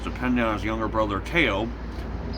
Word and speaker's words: Theo: mental incapacities was dependent on his younger brother teo pronounced it it's spelled theo but it's pronounced tail